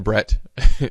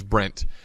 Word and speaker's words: Bret: just ridiculous but uh his first name has always been Brett Gordon gee apparently thinks it's Brent uh so here's a